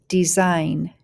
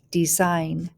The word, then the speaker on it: design: the gn spelling pattern the g is silent and we just hear that sound let's go ahead n